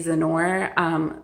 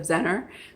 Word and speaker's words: Zenor: I also have some digitals from Zenor. I'm sorry I've been pronouncing your name wrong this whole time. It's Zenor instead of Zener, so I apologize for that.